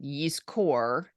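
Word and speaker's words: יזכור: service and we say yisker which is the way we pronounce it yeast core the root is Zion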